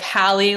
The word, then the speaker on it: Hallie: So it's like Hallie, like from the Parent Trap, and then, like.